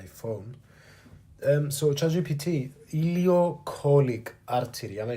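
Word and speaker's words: ileocolic: charge my my phone um so charging PT ilio colic artery am I saying it right yep you got it ilio colic artery is spot on and why is the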